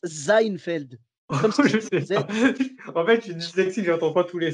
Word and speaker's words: Seinfeld: est ce parce que ça s'écrit avec un s et y en a qui le prononce comme si c'était un z tu vois je sais